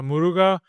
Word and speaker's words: Muruga: Yeah, Muruga in South in Tamil, it's the god Kartikeya. Murugan. Yes, that I know. Murugan, yeah, they call it Muruga also. Murga, but Yeah. not Murga. Muruga.